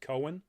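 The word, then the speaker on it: Keoghan: here uh barry i i think in irish that's pronounced cohen um as druid um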